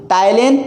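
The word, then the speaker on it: ptyalin: टाइलिन and lysozyme. कौन कौन से? टाइलिन and lysozyme, टाइलिन and lysozyme. यहाँ पे पी साइलेंट रहेगा। ठीक है, यहाँ पे पी साइलेंट है।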